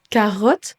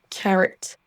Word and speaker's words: carrot: De même que carotte se prononce carrot.